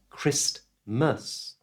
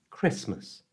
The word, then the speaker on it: Christmas: the word Christmas and in normal natural conversation we don't usually pronounce the letter T so it's not Christmas it's Christmas you try Christmas now